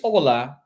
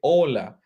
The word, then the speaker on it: Hola: Colombia okay and this Ola Ola this is how you pronounce it Ola H is voiceless you say Olas Ola